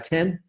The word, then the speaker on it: X: new release of Spotfire Spotfire 10 written x and pronounced at 10 that includes a m--